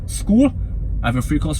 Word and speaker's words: Skool: to make money online with school SK o l school I have a free